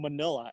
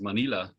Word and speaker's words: Manila: You always pronounce Manila like it rhymes to vanilla, but I thought Manila is pronounced Manila. Can you tell me? I always pronounce it Manila. I guess that's Okay. just the way we Americans pronounce it.